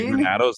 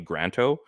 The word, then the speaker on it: Granato: I got Tony Granato's name wrong for the longest time. I called him Tony Granto. And I finally realized there was an A in the middle.